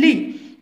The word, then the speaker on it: lit: regardez bien li la lo lu le li les le li هنا تي كتجي في الاخر ما تنطقش. le lit السرير.